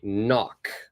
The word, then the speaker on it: knock: we say that word the K is not pronounced it's silent so we say knock now below below we've